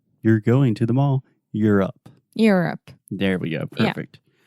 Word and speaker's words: Europe: hear a lot of ayodup a lot of Europe but we just say you're here you're going to the mall Europe Europe there we go